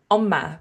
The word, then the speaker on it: Umma: Is that the way you pronounce it? You're close. It's Umma, but it's pretty hard to say.